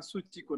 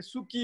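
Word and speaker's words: Suu Kyi: हामीले सुची भनेर उच्चारण गर्छौँ, उहाँको वास्तविक नाम पनि सुची हो। तर यो अङ्ग्रेजीमा लेखेर उच्चारण गर्दाखेरि चाहिँ सुकी हुँदो रहेछ। अनि त्यहाँबाट अहिले अन्तर्राष्ट्रिय स्तरमा चाहिँ उहाँको नामलाई सुकी भनेर अब उच्चारण गरिन्छ। तर बर्मिसहरूले उहाँ आफैले पनि अनि हाम्रो राष्ट्रभरि चाहिँ सूची भनेर नै उच्चारण।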